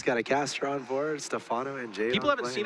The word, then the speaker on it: Stephano: He is Stephano.